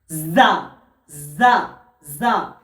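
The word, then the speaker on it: زاي: যা উচ্চারণ হয় দুটো দাঁত চাপার পরে জিভের জিভটা এসে ঝাটকা দেবে, এরকম। যা যা যা।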